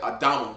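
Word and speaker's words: אדמה: look up the word Adam and it say red, which that's not true. It means the ground, literally. Yep, Adama. That's how you say it in the Hebrew.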